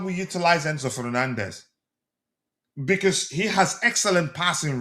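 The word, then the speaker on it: Fernandes: uh um Manchester United is it Fernandez? Is it or Hernandez? Which how do you say his own? Is it H or F? Fernandez. Fernandez. Yeah.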